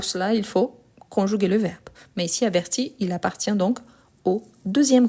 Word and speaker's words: avertit: Ici averti j'entends le i. averti. Averti donc ici c'est la différence par rapport à la prononciation. Donc ah mais je n'entends ni le s ni le t. Non mais c'est la marque par rapport à la conjugaison. Donc je les écris toujours mais je ne les prononce jamais.